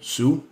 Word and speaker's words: SUI: Je parle de Sue. OK, moi je le prononce de même, là. Sue. SUI, S-U-I.